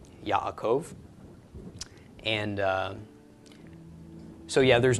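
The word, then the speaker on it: יעקב: quote me on that but anyway regardless it's pronounced Yaakov Yaakov and so yeah there's not much correlation between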